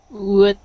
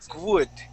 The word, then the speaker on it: would: Okay, so when you said this word, your W sounded a little bit like a G. Okay, you had said would. Okay, pronouncing a sort of a G right before that sound, or right before that W. So instead of trying to pronounce a W, I want you to throw that W out of your mind and think of an ooh sound.